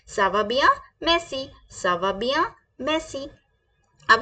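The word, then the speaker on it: ça va bien: आई am very well so हम क्या बोलेंगे सावा बिया सावा बिया सावा बिया प्लीज रिपीट विद मी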